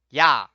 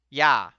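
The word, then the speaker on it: ㅑ: The second vowel is written as ya, ya.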